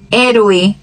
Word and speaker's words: héroe: Mas ela não tem som nenhum nas palavras. Onde ela aparecer, o som vai ser mudo. Hola, helado, hijo, hacer, huracán, héroe, hombre.